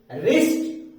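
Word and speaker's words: wrist: अगर राइट माने लिखना अगर इसके डब्लू के तुरंत बाद आर अगर आ जाता है तो व डब्लू हमेशा साइलेंट हो जाता है रि रिस्ट र राइट इसके अलावा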